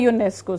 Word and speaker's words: UNESCO: Because this is pronounced like this, U. Its sound is this. So it is a UNESCO site.